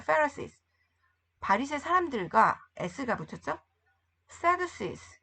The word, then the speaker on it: Pharisees: 바리새, 페리새. F 발음 나는 거야. Pharisees.